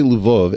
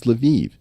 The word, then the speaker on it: Lviv: Now, by the way, if I say Lvov, everyone's going to correct me and say, no, Eric, it's Lviv. It's like, no, these cities all have multiple pronunciations.